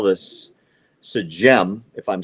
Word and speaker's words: Sejm: During Hanukkah, in the chambers of their parliament, which they call this Sejm, if I'm saying it right, S-E-J-M, it's the Polish word for their parliament.